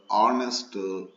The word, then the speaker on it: honest: In the word our, H-O-U-R, our, honest, honorable, H is there, but H is silent. Therefore, our, honest, honorable make vowel sounds, so they need an.